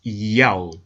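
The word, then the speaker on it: ΙΑΩ: In order to help the reader pronounce God's name correctly, they transliterated the Most High's name with the Greek characters iota, alpha, omega, written in Greek, pronounced Yao.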